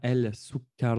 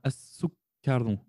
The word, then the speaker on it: السكر: Lorsque le elif lem vient s'introduire devant, eh bien, on ne prononcera pas le lem. On ne dira pas el sukkar. On dira as-sukkar.